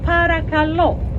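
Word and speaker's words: παρακαλώ: that is the word parakalo again the stress goes to the last syllable that is you're welcome and it's also please so when someone tells you fjaristo you reply paragalo well done but also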